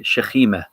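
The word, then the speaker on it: שכינה: As an example, sakina is also it's a word that's also used in Hebrew. It's just slightly pronounced slightly differently, shechima.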